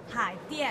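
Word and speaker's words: Haidian: Hai Dian. H-A-I. Hai. Dian.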